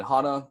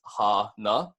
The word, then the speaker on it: hana: And then hana, easy to pronounce, is just ha-na. So if you guys want to repeat it back with me, it's going to be ha-na, and then put that together, you get hana.